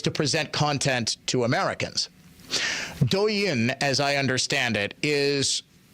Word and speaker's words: Douyin: It's actually called, I believe it's pronounced Douyin or Douyin.